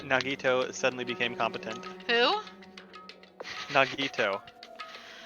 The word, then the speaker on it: Nagito: Nagito.